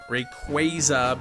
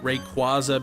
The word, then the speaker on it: Rayquaza: way you pronounce Rayquaza Rayquaza being the correct way Rayquaza being a common uh mispronunciation pona yeah JJ just